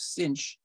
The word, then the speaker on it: sinh: T minus Cosh t the way you pronounce hyperbolic sine is sinh is cinch and the way you